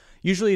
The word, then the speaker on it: usually: what it's going with usually is an interesting word because it can have either three or four syllables the primary stress is on the first syllable you remaining syllables Ali